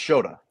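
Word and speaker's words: Shota: the lab yesterday and is it sha or shoda it's shoda right Sha shoda I believe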